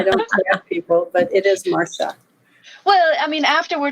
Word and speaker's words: Marcia: up more often well I pronounce it Mara because that's the way my mother pronounced it but trust me I've